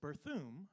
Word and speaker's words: Berthiaume: do you say that it's berthoom like perfume so welcome to uh